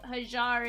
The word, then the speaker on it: Hajjar: gonna be Steve Park we uh we like to call him silent Jay so Steve hajjar is how it's actually pronounced but Steve Harvey Milwaukee